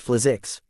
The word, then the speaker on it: Flizix: "What is this Order of Flix all about?" "It's pronounced Flizix. Don't let anyone of the Order hear you butcher that word," their local guide warned.